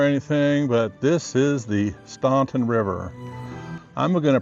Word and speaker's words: Staunton: Not to start an argument or anything, but this is the Staunton River. I'm going to pronounce it the way it's spelled. Many people will correct me and say it's Stanton, which the town is called Staunton, but it's spelled Staunton.